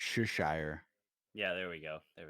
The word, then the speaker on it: Cheshire: not how you pronounce Cheshire cat either. Oh, really? I think it's soft CH, so it's Cheshire.